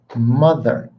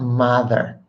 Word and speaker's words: mother: And while I'm on this, it's mother, not mother. Hey, ma, mother. It's mom, and it's mother.